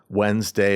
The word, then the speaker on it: Wednesday: So we're we're omitting a complete syllable and several letters.